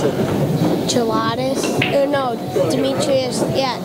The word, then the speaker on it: Jelatis: How do you pronounce it? Jelatis? No, Demetrius. Yeah, Jelatis.